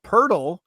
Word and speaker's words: Poeltl: And for anyone that doesn't know Poeltl, that's okay because that's a step further than Wordle. It is a word, of course, that rhymes with Wordle.